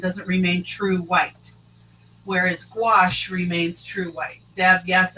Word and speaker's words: gouache: So Melissa just let us know it's pronounced gouache. Yeah. Yeah. Wash.